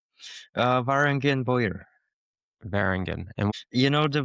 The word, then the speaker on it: Varangian Bowyer: maybe even less and how do you pronounce the name of your your bow making brand uh Varangian boyer Barangian and you know the Bangians were like